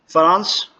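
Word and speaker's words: フランス: फ्रांस को फुरांसू कहा जाएगा, फुरांसू। वहाँ के रहने वालों को फुरांसू जिन और लैंग्वेज को फुरांसू गो।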